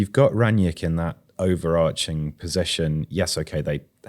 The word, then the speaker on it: Rangnick: saying Rangnick's name wrong. Right, okay. So, yeah, there you go. Yeah. What is it? Rangnick.